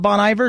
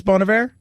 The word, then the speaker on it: Bon Iver: that what it is not bon iver it's bonavir that's the way they used to pronounce it on northern exposure okay i see i'm